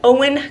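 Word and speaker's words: Eoin: picked Artemis Fowl by owen Culver I looked it up on his website that's how you say it Owen apparently but I'm cheating a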